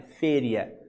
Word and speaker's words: feria: presta atenção nesse vocabulário feria não é feira é féria tá se escreve aí a espanhola e se pronuncia féria que é feira mesmo